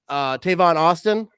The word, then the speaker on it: Tavon Austin: Tavon Austin?